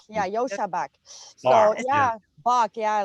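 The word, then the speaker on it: Joscha Bach: It's not Josh. It's Yashua. I know it's got a weird name. It's like J-O. Why? Like Yoshi. It's like Yosha. Yosha Bach. Yeah, Yosha Bach.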